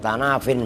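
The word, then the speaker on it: تناف: Tanafin itu asalnya tanafiyun, makanya tanafin bacanya.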